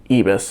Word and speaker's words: ibis: I actually had to look up the pronunciation. It is ibis.